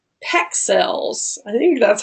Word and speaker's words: Pexels: It's called Pexels. I think that's how you say it. It's like pixels, but with a E, right?